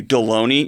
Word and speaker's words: Deloney: who even are you deloney your name rhymes with the lunch meat for crying out loud